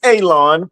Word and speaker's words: Alon: You already know my name is Alon pronounced like you're going to cut grass like you're going to cut a lawn. It's not spelled that way but it is pronounced that way.